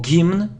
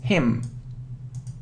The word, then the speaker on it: hymn: So it isn't hymn or gymn, no, it's hymn.